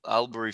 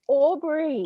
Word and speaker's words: Albury: Can you paint a picture of Albury for our listeners? First of all, Malcolm, you're saying it wrong. It's Albury. Albury.